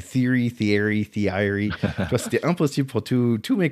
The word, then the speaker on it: Thierry: avec le nom Thierry, personne ne savait le prononcer. Terry. Et, parce qu'il n'y avait pas un Thierry. Oui, c'est Terry, T-E-R-R-Y, mais pas T-H-I-E-R-R-Y. Donc les gens disaient, mais comment tu prononces? Et donc c'est Theory.